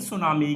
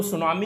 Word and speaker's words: tsunami: तो T actually यहां पर जापानीज में टी साइलेंट होगा, तो इसलिए इसको सुनामी नाम दिया गया।